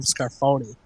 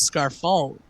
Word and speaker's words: Scarfone: didn't know his name they just kept calling him scarfone and I said no no it's scar fault like you're saying it wrong and then I said